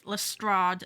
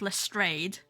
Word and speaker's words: Lestrade: And yes, Rumor, everyone else just pronounces it as Lestrade, not Lestrade, as far as other media of Sherlock Holmes.